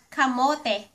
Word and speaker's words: kamote: It's time for another Learn Tagalog pronunciation video at let's start with this photo. that is a purple yam, yam ----- kamote.